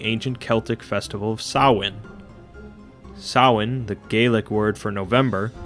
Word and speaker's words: Samhain: oh my god my entire life i've been mispronouncing sawin it's fine it's fine celebrate or know someone